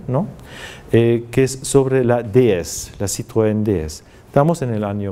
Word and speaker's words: DS: y analiza las imágenes de la nube Citroën, que se llama DS. DS, pero pronunciado, una palabra, digamos unas siglas pronunciadas a la francesa, significan diosa.